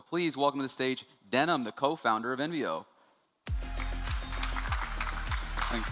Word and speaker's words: Denham: My name is Denim, pronounced like the jeans.